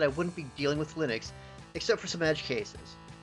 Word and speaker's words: Linux: And yes, the pronunciation is Linux. Things like Linux are just butchered versions.